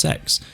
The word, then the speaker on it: CeX: it's spelled CeX but it's apparently supposed to be pronounced sex um which is strange